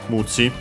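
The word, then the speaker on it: ムチ: So yeah, Muchi, actually accent on the first Mora, Muchi.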